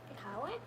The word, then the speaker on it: Iqaluit: So when I first read about the Sunrise Festival, I thought Inuvik was in Iqaluit. Is that how you pronounce it? Iqaluit? Yes.